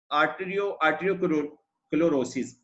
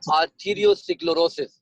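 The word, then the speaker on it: arteriosclerosis: पहला मसला ये होगा आर्टरियोक्लोरोसिस। ये मतलब खून की इससे नहीं सर, इसको हम सही प्रोनाउंसिएशन है आर्थरियोस्क्लेरोसिस।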